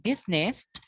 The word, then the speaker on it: business: Business will be business. Comfortable, comfortable. And also we have some other silent syllables, okay?